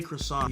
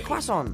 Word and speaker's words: croissant: this ongoing debate of how croissant is actually pronounced how does Tom Holland say croissant yes quaon I say it you do say qu it's a Quon but you do say it with a qu